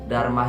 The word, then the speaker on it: Dharma: Huruf A yang terdapat pada akhiran kata Dharma akan dilafalkan sebagai A seperti pada diucapkan pada kata acara, doa, lupa, dan sebagainya. Apabila menggunakan 1 huruf M